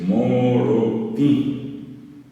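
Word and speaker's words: morotĩ: Monotí, ti, ti es nasal, la i final es nasal, es moroti, monoti es blanco, lo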